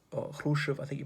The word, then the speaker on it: Khrushchev: Nikita Khrushchev, or Khrushchev, I think you pronounce it, had been the general secretary for a while.